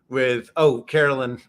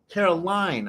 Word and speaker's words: Caroline: So normally Steve, I think we normally head into a recurring bit with Carolyn. Is it Carolyn or Caroline? Caroline. I knew I was saying it wrong because it sounded too natural to me.